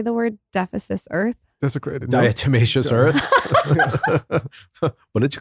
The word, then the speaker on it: diatomaceous: do you say the word deficits Earth desecrated diatomaceous earth what did you call it I like